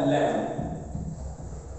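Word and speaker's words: lamb: अब देखिएगा, एज GENT gentle, as अ लैम्ब, लैम्ब होता है मेमना। ओके, यहां एम भी कॉम्बिनेशन में बी साइलेंट है, मेमना बोलते हैं।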